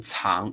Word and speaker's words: 藏: 藏旅游，所以你念藏的时候，you're talking about Tibet. When you pronounce 藏 it's like you're talking about Tibet.